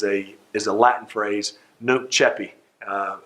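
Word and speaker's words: nunc coepi: is a latin phrase no cheppy uh i say at the alabama way but uh n-u-n-c-c-o-e-p-i uh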